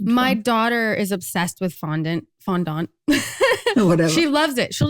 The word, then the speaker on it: fondant: Well, I suppose it would be a French word, so it would be fondant.